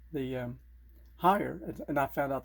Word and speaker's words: Haier: nor called the um higher and i found out that's how you pronounce it is higher i called their toll-free